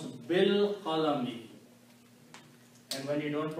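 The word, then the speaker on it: بِالْقَلَمِ: And when you pronounce, you do not pronounce this alif. Pronounce bil qalami, and when you don't pronounce, then this changes into a small swar called hamzatul wasl.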